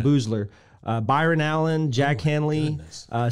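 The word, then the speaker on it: Boosler: had louis anderson uh elaine booster uh boozler sorry boozler pronounced that wrong elaine boozler byron allen jack hanley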